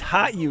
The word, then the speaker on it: HOTU: been pronouncing it wrong it's not hotu it's hot you y'all come on that's